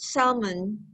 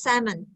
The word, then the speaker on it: salmon: What about grilled salmon? The pronunciation is salmon without the L.